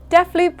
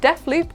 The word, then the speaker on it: Deathloop: is 64.99 fun fact def loop also rhymes with two of my favorite foods hula hoops and spaghetti hoops it's so cheesy our